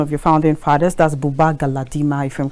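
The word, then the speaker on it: Buba Galadima: interviews with one of your founding fathers that's Bubba galadima if I'm correct with the name pronunciation to you that's correct and then you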